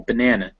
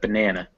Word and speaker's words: banana: it is very small banana it's not banan but banana now if it's after a